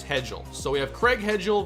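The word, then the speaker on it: Hejl: pronounce that last name h e j l all right for what i see here it's hedgel so we have craig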